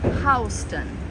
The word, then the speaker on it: Houston: um ho the last two letters stand for Houston which is spelled same way as Houston so south of